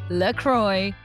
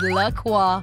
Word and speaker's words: LaCroix: LaCroix. The pronunciation of this well-loved brand has also baffled many consumers over the years.